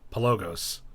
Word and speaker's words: Pelogos: interest you've created a very cool game called pelogos did I say it right this time yes